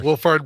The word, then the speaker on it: Wolfhard: Wolfhard Megan Norman. Wolfhard. Is that how you say it? Wolfhard, right?